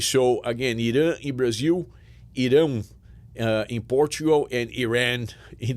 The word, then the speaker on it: Irão: We say Irão. So Brazil, Iran, and in Portugal, Irão.